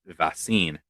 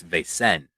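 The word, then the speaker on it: Vaesen: because I'm semi- dyslexic um I think I pronounced it as vasin but it's a it's ven ven ven yeah it looks it looks like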